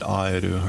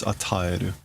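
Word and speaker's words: 与える: Oh, I mispronounced that earlier. When this came up earlier, I think I just said aeru or whatever. It's ataeru, to give.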